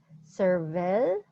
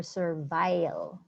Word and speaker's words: servile: Actually, there are two proper ways to pronounce it. You can pronounce it servile or servile.